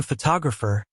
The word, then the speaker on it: photographer: For example, in the word photograph, the stress is on the first syllable. But in photographer, it's on the second syllable.